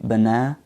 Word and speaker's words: banana: group okay for example the word banana has a main stress on the second syllable and the other two syllables are schwa sounds okay banana and the British accent